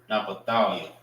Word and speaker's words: Naphtali: Naphthalia. Na pa thou ya. All right. Which is Naphtali. Naphtali. All right. Naphthalia. That's how you say Naphtali in the Hebrew.